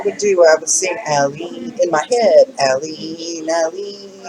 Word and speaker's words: Alyeen: I couldn't pronounce her name for the longest. I was calling her everything but Alyeen. And so if you remember Dolly Parton and the White Stripes have a song called Jolene.